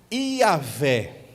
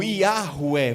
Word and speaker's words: Iavé: Iavé, ou Iahué, vai depender aí da pronúncia, digamos assim.